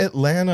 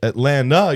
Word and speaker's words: Atlanta: I have to say that T to be correct. It's a dialect Atlanta. Atlanta would be the right way to say it. Atlanta, you're leaving out the T.